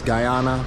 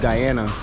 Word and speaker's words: Guyana: made it to Guyana a lot of people pronounce this Guyana but it's called Guyana right now I'm going